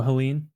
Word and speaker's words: Helene: Helena, maybe? How do you pronounce it? Cat 4. Goodness, it's a big one. What is it? Hurricane? Cat 4. Hurricane. I don't know this word. Helene? Helene? Oh, Helene.